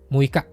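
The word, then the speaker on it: 六日: Kalau yang mui itu untuk tanggal ya, muika. Atau untuk jumlah hari. Kalau 6 hari juga sama, muika atau muikakang.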